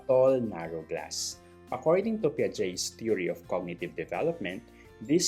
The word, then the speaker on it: Piaget: Sa Philippines, we pronounce it as Jean Piaget. Pero sa since siya ay Swiss developmental psychologist, ang tamang pronunciation daw is Piaget. Piaget.